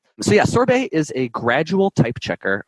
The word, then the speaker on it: Sorbet: what sorbets is sure we pronounce it sorbet maybe I'm Canadian originally so my and my French accent can can drive a little bit more in there it's it's named after the the delicious dessert so yeah sorbet is